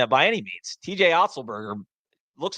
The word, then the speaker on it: Otzelberger: I mean, is TJ Otzelberger? Is that how you pronounce it? I know I was saying that off air. Is that right? Otzelberger?